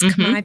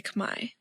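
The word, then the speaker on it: Khmer: So it's not like Cambodian people Cambodian food the Cambodian language. It's Kamay people kami food and kami language. So it's spelled k h m e r.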